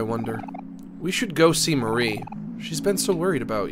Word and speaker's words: Mari: see my sister Marie also with the way it's spelled it might be pronounced Mari but I don't care I'm going to keep calling her Marie omori you're okay oh